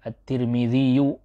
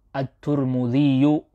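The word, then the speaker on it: الترمذي: sudah sebutkan ini ya, At-Tirmidzi bisa dibaca dengan beberapa bacaan, At-Tirmidziyu, At-Tirmidziyu, At-Turmudziyu, At-Tirmidziyu, At-Tirmidziyu, At-Turmudziyu, At-Turmidziyu. Nah, itu dia di antara cara bacanya.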